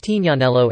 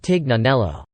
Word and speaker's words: Tignanello: Plus, it's pronounced Tignanello in Italian, not Tignanello.